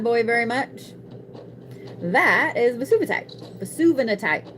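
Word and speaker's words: Vesuvianite: That is Vesuvinatite. I always say it wrong because I want to say Vesuvius. It's Vesuvinatite. So this right here is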